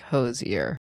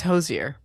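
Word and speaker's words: Hozier: The Irish singer singer songwriter said it's actually pronounced like hosier.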